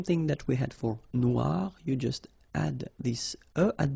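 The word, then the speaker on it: noire: it's quite funny because you will have to add this at the end of Noir for the feminine form but then you don't pronounce it okay so phonetically it is exactly the same no Noir Okay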